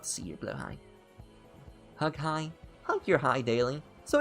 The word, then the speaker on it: Hai: because I speak German, and if it was spelled the way it was spelled in German, which is the proper way it's spelled, H-A-I, it would be pronounced Hai.